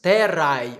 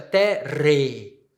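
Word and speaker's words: terrae: A terra, terra. As terras, terrai, ou, na pronúncia eclesiástica, terre. Ai no final, com ae no final.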